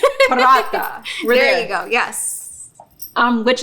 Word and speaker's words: Paratha: us a recipe called Paratha. Did I pronounce that correctly? Yes. Roll your R a little bit. Paratha.